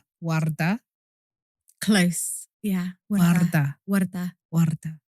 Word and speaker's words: Warda: And in response to your first question, my name is pronounced Warda. That is how my mum says it. Yeah. But people who speak English primarily have a very difficult time pronouncing that rolling R.